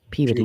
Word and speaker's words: Peabody: And that that town is spelled Peabody, but it clearly they call it puberty.